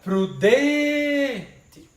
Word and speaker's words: prudente: Chama a palavra prudente. A palavra que demorar mais é a tônica. Prudente. A sílaba que demora mais é a tônica. Prudente. Então é den.